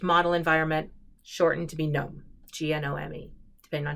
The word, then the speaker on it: GNOME: GNU Network Object Model Environment, shortened to be GNOME, G-N-O-M-E, depending on how you want to pronounce it.